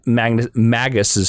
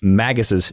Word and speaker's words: Magus: Magus, like Magus, like a mage. Oh, maybe it is Magus. I'm saying it wrong. I'm such an idiot. No. It's Magus. They're both acceptable pronunciations. Magus. Okay. But it's the traditional Magus because it's derivative of mage.